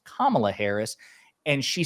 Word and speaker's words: Kamala: because she has been told like hey it's pronounced Kamala Harris and she said on CNN I'll call